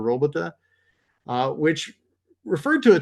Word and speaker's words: robota: should be pretty close I think think it's robota or robota uh which referred to